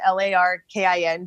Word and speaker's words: Laurken: live every day but my name is pronounced Larkin so it's Larkin